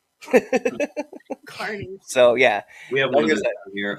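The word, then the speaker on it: Kearney: e a r NE Y and people to pronounce it kiery right and phonetically that sounds right it's pronounced Carney Carney so yeah we have here um it's pron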